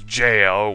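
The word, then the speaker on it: gaol: key and then there's JL which is written g a o l old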